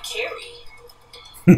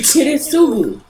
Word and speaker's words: Kiritsugu: Big idea to call me Carrie. Well, yeah, because you're see, she butchered his name too. Carrie, right. Kiritsugu.